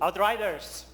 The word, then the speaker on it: Outriders: Outriders. That's how you pronounce it.